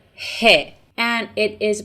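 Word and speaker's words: ح: Persian letter is letter hey and it is pronounced like in the beginning of the word home for letter H in English the form of this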